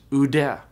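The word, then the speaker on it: οὐδέ: Omicron upsilon is a diphthong that is pronounced u, like in soup. And so the Greek word meaning and not is pronounced ude, ude.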